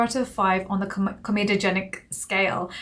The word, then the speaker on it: comedogenic: of five on the comedogenic scale i always say chromatogenic and i don't know why i say that it's comedogenic scale my dad was watching